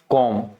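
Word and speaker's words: comb: कॉम। क्या पढ़ेंगे हम? कॉम। यहाँ पे बी साइलेंट होता है, इस सारे शब्द में क्या होता है?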